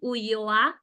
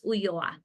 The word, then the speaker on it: Ulloa: So that's why I decided, and it's pronounced Ulloa. The double L is pronounced as a Y, so it's Ulloa.